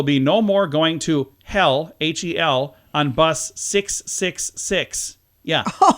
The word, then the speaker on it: Hel: a bus leading to a place that sounds like the word hell in English. It's H-E-L. It's spelled differently.